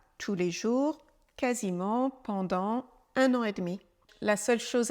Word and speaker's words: un an et demi: 1 an et demi 1 an et demi une toute petite contraction le E de de disparaît et comme on parle rapidement le D est très peu prononcé 1 an et demi